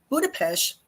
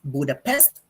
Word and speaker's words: Budapest: Budapest, by the way, is the capital of Hungary, and it's not pronounced as Budapest, but locals call it Budapest.